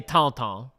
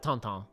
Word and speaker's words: Tintin: little bit of French, and they say Tintin. They pronounce it Tintin.